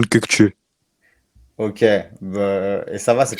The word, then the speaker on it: Kökçü: Donc, Orkun Koksu, je ne sais pas déjà si je le prononce bien. Déjà, si tu peux me reprendre là-dessus. Non? En turc c'est Orkun Kökçü.